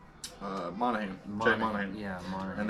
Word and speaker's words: Monahan: Monahan.